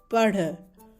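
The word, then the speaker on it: पढ़: Pen, p, and the r sound, as in diamond, d, dh, r, r. So it's the r sound joins together to make padh. Padh. So we pronounce it as padh.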